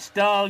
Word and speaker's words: Stahl: It's spelt Stahl, you pronounce it Stahl, just in case you're wondering.